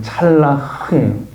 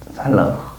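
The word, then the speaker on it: צלח: 뭔지를 알게 됐대요 형통이 단어가 성경 히브리어로 여기도 발음을 잘해야 되는데 찰라흐예요 찰라흐 이 형통이 단어가 찰라 은데 히브리어로 이런 뜻이에요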